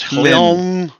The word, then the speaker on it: Hlyn: Her name is Hlyn Trollbane. Think of it like Lynn with a H in front. Yeah, like Hlyn.